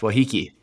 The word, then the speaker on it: Waiheke: It's Waiheke.